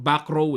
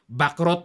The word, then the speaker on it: Bacrot: ng ilang kaagad si Bak rot ang term po or ang pronunciation nito sa Europe backrow eh o sa atin dito sa Pilipinas back rot yan Bishop C5 Ayon